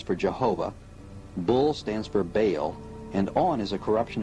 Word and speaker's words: Baal: Bell, spelled B-E-L, is usually pronounced Bell, but both Strong in his Hebrew dictionary and Fariabin in his prefer to say Baal. The word is probably the contracted form of some other Hebrew word, commonly pronounced Baal and spelled B-A-A-L, and he was worshipped